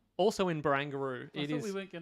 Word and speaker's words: Barangaroo: I never know how to pronounce it. Barangaroo. Barangaroo.